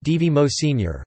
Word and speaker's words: Edvard Moser: Edvard Ingjald Moser, pronounced D.V. Mo Sr., born the 27th of April 1962, is a